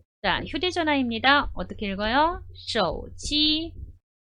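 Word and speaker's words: 手机: 그래서요 숙 일하고 있고 발음은 쉬어 오지 라고 합니다 어떻게 한다구요 핸드폰은 cog 라고 발음하는 거야 예 일단 휴대 전화입니다 어떻게 읽어요 쇼지 그 다음에 컵 이라는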